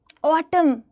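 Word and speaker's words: autumn: एम के letters बहुत कम silent होते हैं। एम से रिलेटेड फाइव वर्ड्स आपने लिखने हैं। एन बताओ। N column, ऑटम, condemn, हाईम, सॉलि डैम बोलते हो कि नहीं बोलते हो?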